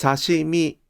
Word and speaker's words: 刺身: 刺身も小高型です。